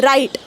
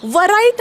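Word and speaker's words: write: ठेवा रू number one डब्ल नंतर आर आला तर डब्ल सायलेंट होत एक्झाम्पल राईट ओके वराईट नाही म्हणत आपण राईट रॉंग रेस्ट म्हणजे मनगट रू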